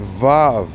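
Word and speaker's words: ו: Okay, that's how you say it. Vav, V, Vav.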